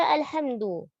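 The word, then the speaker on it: الحمد: Pada kata alhamdu, jelaskan dan tipiskan huruf hamzah dan jangan dibaca dengan isba'. Isba' itu memanjangkan harokat. Langsung alhamdu. Tidak alhamdu, ya. Yang dipanjangkan. Tipiskan huruf dal. Sempurnakan harokat dhammahnya pada huruf dal. Alhamdu, du. Jelaskan dan tipiskan huruf lam sukun dan jangan dibaca dengan memantul.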